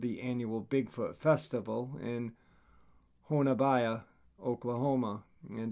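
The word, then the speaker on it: Honobia: annual bigfoot festival in honabaya oklahoma and apparently that is pronounced honubi so this is a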